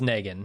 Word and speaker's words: Negan: The official Watching Dead pronunciation of that name is Negan. Negan.